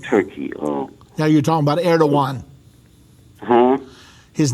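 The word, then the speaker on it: Erdoğan: His name is Erdogan. Just to respond. His name again? Pardon? Say his name again. Erdogan, and it's spelled funny. It's Erdogan, but it's pronounced Erdogan.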